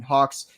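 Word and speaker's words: Gauxx: Taker j-e-r-t-a-k-e-r and then Hawks g-a-u-xx silent G pronouncing H double X and entertainment spelled correctly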